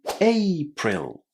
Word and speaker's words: April: This A is pronounced exactly in the same way as the letter A in the English alphabet. So, April.